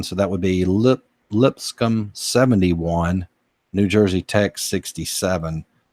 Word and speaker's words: Lipscomb: now for lips income that's a tough one to pronounce for me Lipscomb I'll say lipstick um its Lipscomb Lipscomb you would take 77